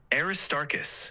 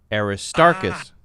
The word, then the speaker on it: Aristarchus: can hear the difference the correct one is aist starus the stress is on the second syllable tar so arist starus